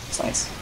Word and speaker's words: Snice: Or should I say Snice pipe. Damn it, I missed it. Snice pipe, man. And Snice stickies. Sorry, that was my mnemonic for remembering how to pronounce the man's name right.